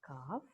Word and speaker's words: calf: L is silent as in calf, yoke, half.